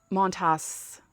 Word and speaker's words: Montas: that because it started off so well but montas that's how you say his name turns out